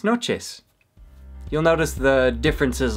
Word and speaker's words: noches: the north of Mexico, they pronounce the CH a little differently. It's more like a sh instead of a ch. For example, they'll say buenas noches instead of buenas noches.